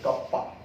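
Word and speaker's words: kappa: ठीक है बच्चा, और इस K को हम बोलते हैं कप्पा, K इज a what, कप्पा, ठीक है, या कापा, जैसे जैसे भी आप उसे प्रोनाउंस करते हो, ठीक है।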